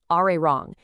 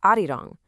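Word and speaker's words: 아리랑: just naturally slides over and connects to the next syllable, irang, which makes it sound like arirang. The same exact thing happens with ala elio, turning it into arario. It's a natural shift in pronunciation over time.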